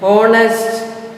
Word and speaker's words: honest: Honest, H is silent.